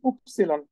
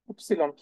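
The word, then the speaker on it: Ypsilon: দেখুন দেখেন ওয় এর যে উচ্চারণ সেটা হচ্ছে উপসিলন ওয় এর যে উচ্চারণ সেটা হচ্ছে উপসিলন উপসিলন উপসিলন উপসিলন উপসিলন ওয় এর যে উচ্চারণ সেটা হচ্ছে উপসিলন ওয়াই এর উচ্চারণ উপসিলন উপসিলন মনে রাখবেন এটাকে সেইম ওয়েতে দেখেন এখানে এক্স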